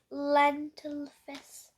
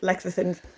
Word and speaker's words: lecithins: emulsifier, lentil fizz. I'm not sure how to pronounce that word. It's Soya. lecithins.